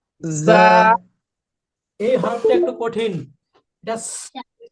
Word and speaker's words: ز: যা। আমরা অনেক আমরা অনেকে ঝা বলি, এরকম ঝা বলি। আসলে ঝা হবে না, আসলে এরকম ঝা হবে না।